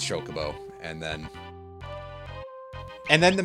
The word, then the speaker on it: Chocobo: I remember a lot of pronunciation of it as Shockabo when I was younger. Until eventually they started voice acting the games and then you could actually hear that it was properly pronounced Chocobo and then and then